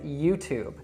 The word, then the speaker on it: YouTube: So with this one, the correct pronunciation is YouTube, not YouTube or something else like that. And this is really great to look at because we can see that when a word ends in E in English, usually we don't pronounce it.